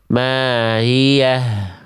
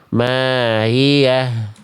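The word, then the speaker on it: مَا هِيَهْ: H-nya ada tapi tetap salah karena H-nya tidak jelas ya atau sering disebut dengan khofa. Bunyi H-nya samar. Maiah. Harusnya dijelaskan ya. Mahiah. Dari pangkat tenggorokan jelaskan aliran nafas dan aliran suaranya.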